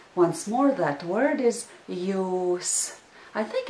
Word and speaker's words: jūs: Once more, that word is jūs. I think it's easy to remember the word because it sounds similar to the English word you. So once more, the word is jūs.